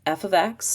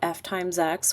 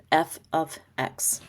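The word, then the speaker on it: f(x): And just friendly reminder, it's pronounced f ofx, not f* x or fx. It's f ofx.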